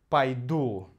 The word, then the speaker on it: пойду: Конечно, здесь идет «а», потому что ударение на «у» — «пойду».